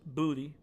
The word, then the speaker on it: Boutte: And that is, we're going to be talking about the trade of wide receiver Kayshon Boutte, pronounced Booty by me, only me.